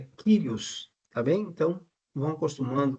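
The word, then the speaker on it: κύριος: a palavra senhor eh no Grego é a palavra kirios aí está transliterado por curios mas a pronúncia correta é quiros Tá bem então vão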